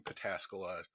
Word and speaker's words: Pataskala: If you haven't gone out to Out of This World in Pataskala, spelled like it sounds, give it a visit.